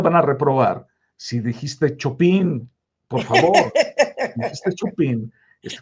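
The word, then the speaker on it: Chopin: pero está bueno porque Chopán es pronunciación francesa, pero en polaco es chopín con la Pero si lo hubiera dicho, sí, me hubieran tronado, eh, de todas formas.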